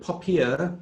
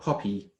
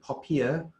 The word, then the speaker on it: POPIA: us to call it popiah because it rhymes with paella and so that's why we call it pophia and we believe it